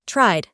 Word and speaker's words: tried: Sacamos la E de la pronunciación y decimos tried.